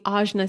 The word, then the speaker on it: Ajna: from the um i i always mispronounce it i'm going to mispronounce it just because it's stuck in my memory and i'm going to do my best to pronounce it correctly um the ajna center it's the ojna center connected to the throat